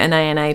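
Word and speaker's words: Anaïs: And I pronounce it like that because I wear Anais perfume, and that's how I was taught to say Anais.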